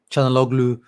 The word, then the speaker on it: Çalhanoğlu: Çalhanoğlu, that's the proper way to say it.